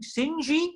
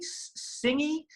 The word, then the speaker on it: Singh: Singh, Singhi, Singh," and you say, "No, Dr. Singh. It's one syllable. It's very like sing a song," and they'll say, "Sorry, it's a bit too exotic for me.